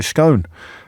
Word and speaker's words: Scone: Scone, but in fact, there's a lot of debate over how you pronounce that word. Yorkshire people say scone. Southerners say scone, and the big debate